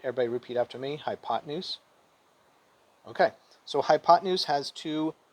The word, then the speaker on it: hypotenuse: s e together though we don't say hypotenuse we pronounce it all together smoothly hypotenuse right everybody repeat after me hypotenuse okay so hypotenuse has